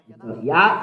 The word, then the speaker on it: Yah: From the left, to read it is Yah. How to read it? Yah. Azi, Zimrat, Yah. Yah is the way to read it.